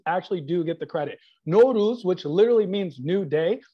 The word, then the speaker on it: Nowruz: know who wrote naurus because it's spelled n-o-w-r-u-z who wrote that why do we say it like we have a scottish accent now whose house you now lose it's no ruse i feel like it should be n-o-r-o-o-z that's how i would spell it but i didn't get to write it but nowruz which is the first day of spring and the first day